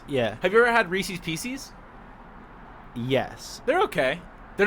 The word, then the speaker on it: Reese's Pieces: And it also rhymes with feces too. Right, it does. But Reese's Pieces. That follows. That's the right way of saying it.